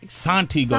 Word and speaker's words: Santigold: the world says that that's why they say it wrong okay cool but it's really Santi Santi gold Santi gold but it